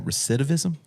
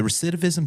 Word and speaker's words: recidivism: I mispronounce this word all the time. Recidivism.